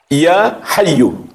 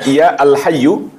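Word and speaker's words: يا حيّ: Ya hayyu. Jangan kita baca ya alhyyu atau ya hayyun.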